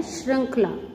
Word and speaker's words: श्रृंखला: वस्तुतः री स्वर है जिसका उच्चारण री के समान होता है।